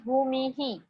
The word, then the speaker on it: भूमिः: So visarga will pronounce like bhu he. So full word is bhumi he. Because of visarga, I am saying that he.